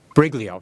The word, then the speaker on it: Briglio: am I I'm sorry how do you pronounce that again briglio just like it's uh it's spelled isn't it okay and